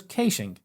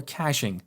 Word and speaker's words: caching: path another approach is to use caching as we call it here in Australia or caching as is pronounced in the United States so with casing we